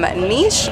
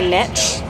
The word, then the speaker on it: Niche: motor home rental from Niche motor homes you know I personally say Niche but I saw the actual pronunciation on the motor home site so this is niche did you feel it